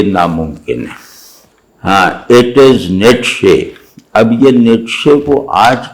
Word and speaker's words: Nietzsche: اب آج کل کہتے ہیں نیچا. اب فضول بات ہے، نیچا کہہ کے کچھ سمجھ ہی نہیں آتا.